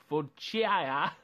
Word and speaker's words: focaccia: Or you can have the shaved ham and cheddar focaccia. Oh, I'm so bad with pronouncing food. It's so horrible. Yeah. Focaccia? There you go.